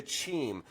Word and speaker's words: Cheem: We're talking to Chim. Now don't get it twisted. It's not Keem, it's Chim.